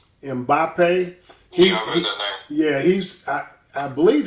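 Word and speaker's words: Mbappé: the brother from France I think is pronounced zimbape Killian and Bape mbappe yeah he's I I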